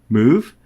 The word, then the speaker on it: mov: thinking about it uh mov is pronounced move and it copies bits